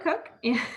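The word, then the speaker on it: Koch: My name is Cook, and I am your instructor for Math 181. So it's like Kayla without the K, and then it's like a cook in the kitchen, even though it's spelled K-O-C-H.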